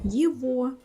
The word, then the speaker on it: его: When it happens, you all know such words as его, сегодня. Here you always pronounce g like v.